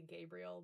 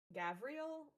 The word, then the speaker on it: Gavriel: like everybody except maybe I would say his name wrong because I want to say Gabriel, but um Gavriel, there's like too many vowels going on in there.